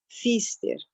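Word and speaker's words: Pfister: tem o x ter que se escreve pfst e é com P no início mas SP mudo né Fiz ter ela aquele teste das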